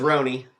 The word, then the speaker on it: Rhone: The official is Ron. Uh but our business name is Ron Casa Hospitality.